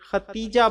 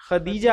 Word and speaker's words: خدیجہ: پہلی زوجہ محترمہ ہیں۔ کچھ لوگ ان کے نام کا تلفظ تے سے ختیجہ بولتے ہیں جو درست نہیں ہے۔ یہ لفظ خدیجہ ہے دال سے۔ خدیجہ رضی اللہ